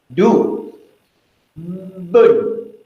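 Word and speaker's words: دُبّ: Dia bermula dengan huruf dal. Du. Bun. Dia ada sabdu. Dubun.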